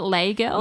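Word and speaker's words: Les Girls: to pronounce this girls I was going to say was it lay girls yeah cuz it's I'm pretty sure the S is silent cuz it's like fench flench yeah it's fench yeah and I assume that and that's how I was saying it in my head I was saying leg I was like don't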